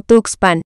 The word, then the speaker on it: Tuxpan: de la huasteca y usaron el nombre toxpan que quiere decir lugar de conejos y que a la llegada de los españoles pronunciaron como tuxpan la fecha propuesta para